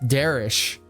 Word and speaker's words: Darish: the AEW fan himself, Darish, you pronounce it with the H at the end, Darish, from what I've been told.